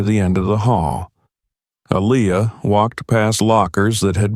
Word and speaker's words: Aaliyah: Aaliyah corrected her softly. It's pronounced Aaliyah, but the teacher had already turned back to the board.